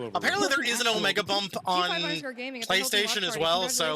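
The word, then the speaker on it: OmegaBump: Although I think you mispronounced my username. It's Omega bump.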